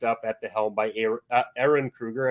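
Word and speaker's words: Ehren Kruger: at the helm by air Aaron Krueger I believe is the pronunciation of his name and then uh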